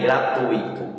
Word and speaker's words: gratuito: O nome aí, gratuito, intuito, fortuito e circuito, são todos exemplos de paroxítonas com a sílaba forte, tui, e não acentuadas porque